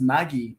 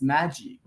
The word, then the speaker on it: Maggi: here in Mexico says my last name is Maggie but it's not Maggie it's Magie and you said it right okay well I